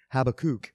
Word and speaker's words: Habakkuk: with my doctoral program always used to call him have a kook I guess that's how you say it in Hebrew uh you know I've always always said it as habakkuk but have a kook